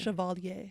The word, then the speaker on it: chevalier: I like the French pronunciation. Is that what I was saying? Chevalier.